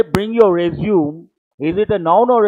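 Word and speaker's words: résumé: pronounce this Standard English it's a foreign word French word you have to say resume what are you supposed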